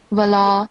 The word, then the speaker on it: ولا: As you can see here, and then we have, you can see, right? Wala, ma. So make sure that you prolong it for at least 3 counts or beats.